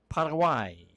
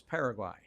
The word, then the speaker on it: Paraguay: as they take on Parawai. As I understand that is how they say it in Spanish. You may know it as Paraguay Ball on the far side.